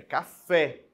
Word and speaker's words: café: tudo bem Ó café eu não falo CAF né não puxa a sílaba tônica para para primeira ali né para o k é café a sílaba tônica é a última e ela termine é